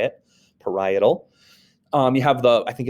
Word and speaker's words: parietal: You have the parietal lobe kind of middle back a little bit, highlighted in the yellow, parietal, that's how you say it, parietal.